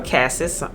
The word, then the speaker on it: cassis: learned i love the note of cassis or cassis some people pronounce it different ways i like to see